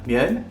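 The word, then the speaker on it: 면: Généralement, la pâte, on va dire, se prononce en coréen myeon et en japonais men.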